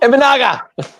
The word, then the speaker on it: Imanaga: Imanaga.